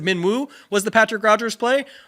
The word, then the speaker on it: Wu: Woo!